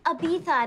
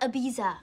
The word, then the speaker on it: Ibiza: meet you at Ibiza it's pronounced Ibiza not Ibiza oh thanks honey that